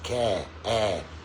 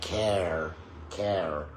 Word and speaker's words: care: However, British English is non-rhotic. That means we don't pronounce that R sound. I pronounce care as care, not care, or here.